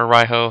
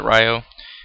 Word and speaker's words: Raiho: But I try to get Defender, General Ryo, or Raiho, however you pronounce it. I pronounce it Ryo, as well as a monster called Dice Sojo, into the graveyard.